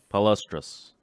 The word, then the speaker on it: palustris: mentioned earlier you can you say that yes palustris that's pretty good you didn't jump I pronounced it mermaid we'd the street name for